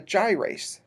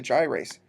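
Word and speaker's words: gyrase: it's a little different and it's called a gyas go and spell that one because it's not in your book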